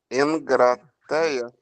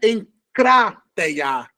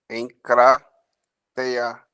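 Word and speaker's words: ἐγκράτεια: Engrateia. Ó, o acento está no primeiro A, então é encrateia. Tá vendo? Engrateia. Não, encrá, crá. Encrateia.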